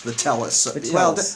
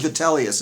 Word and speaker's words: Vitellius: on all sides for vitalius was come from Germany with his soldiery that's vitalus well you know he it's actually vellus it's spelled differently here yeah go on and